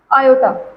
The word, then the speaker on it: iota: आई ऐसे लिखते हैं ये है आयो इसको हम प्रोनाउंस करेंगे आयो ठीक है तो ये